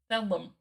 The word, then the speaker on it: Thellum: Oh, it's with an M. Apologize. Thellum.